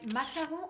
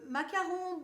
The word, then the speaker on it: Macaron: on it, is my Macaron. I would guess it's Macaron because it's spelled with the French spelling and not the English Macaron spelling.